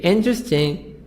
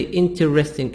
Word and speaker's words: interesting: e e silent interesting we say interesting don't say interesting interesting comfortable all silent comfortable